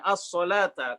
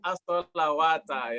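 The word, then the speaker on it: الصَّلَاةَ: Ya, as-sholata. Kenapa sholata di sini menjadi muskilatul kalimat? Karena kalau orang awam bacanya apa? As-sholawat. As-sholawata, ya, rawan as-sholawata.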